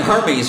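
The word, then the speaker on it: Hermès: It's pronounced Hermes.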